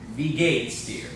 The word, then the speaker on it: wie geht's: And instead of saying gate S, this becomes wie geht's dir.